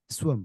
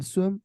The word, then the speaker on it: SWXM: is it swim swim it's swim the x is uh silent yeah the silent thank